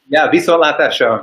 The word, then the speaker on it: viszontlátásra: Well, viszontlátásra, or see ya.